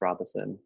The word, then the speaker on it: Robeson: have a Twitter mas Robinson and then it's like a underscore underscore but my last name it's spelled like Robeson pronounced Robinson but also last night